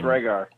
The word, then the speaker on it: Rhaegar: Ooh, did I actually pronounce that correctly? Yes, Rhaegar.